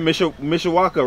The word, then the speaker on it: Mishawaka: And you said Mishawaka, right? I said it right? Yeah, so like the Cam Islands, Central Park, River Park, that area.